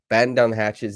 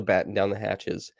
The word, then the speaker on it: batten down the hatches: the hatches I think I muffed that one up last podcast I didn't say it properly batten down the hatches is definitely what it is they were able to batten down the hatches and uh yeah a